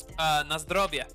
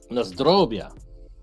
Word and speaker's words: Na zdrowie: Na zdrowie. Na zdrowie.